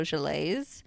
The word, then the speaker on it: gelée: lime and my mango gelées, and my mirror glaze. Ooh, gelée. Look at you. Gelée, I know. I honestly felt like such a dingus saying it because it's spelled Gelee. Well, it's but French.